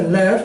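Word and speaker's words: לב: con la letra Buscar corazón se dice left y se escribe con la letra lamet y con la letra b Okay pero aquí en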